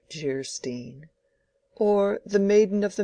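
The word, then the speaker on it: Geierstein: offering it for sale Anne of gyrostein pronounced jerstein or the maiden of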